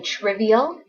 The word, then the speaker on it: trivial: Everybody say trivial. It's 3 syllables. Triv. E-O. Trivial.